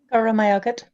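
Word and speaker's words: Go raibh maith agat: Goramayagat. Sorry? Goramayagat. Goramayagat. So a lot of silent letters there.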